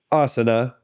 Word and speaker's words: asana: And that one's often mispronounced as asana. Asana. Yeah. Like what the Dutch people go into during the wintertime to warm up their body. But it's not. It's asana. Right.